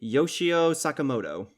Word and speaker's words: Yoshio Sakamoto: by, I'm probably going to butcher this, apologies, Yoshio Sakamoto.